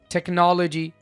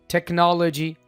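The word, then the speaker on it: technology: टेक्नोलॉजी सी के बाद एच आ गया। लेकिन एच को आप बोल तो नहीं रहे हैं ना? टेक्नोलॉजी एच साइलेंट है।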